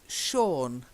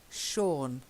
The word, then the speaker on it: Sean: Now the next one is a name, but it's a common name. It's Sean. Sean. Yeah. Sean. Yeah. Sean. I know it doesn't look like Sean, but it is.